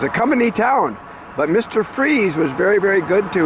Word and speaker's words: Fries: It is um not pronounced fries, it's pronounced freeze.